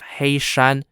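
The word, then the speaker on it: Heishan: and headed east and attacked the towns of hey Shan h-e-i-s-h-a-n and d-a-h-u-s-h-a-n the reason why Liao xiang's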